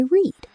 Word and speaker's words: read: R E A D But the pronunciation changes completely. Today, I read. Yesterday, I read. It sounds exactly like the color red.